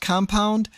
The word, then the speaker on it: Kompwnd: Now, uh even though it might be pronounced compound, the actual words are K O M P W N D.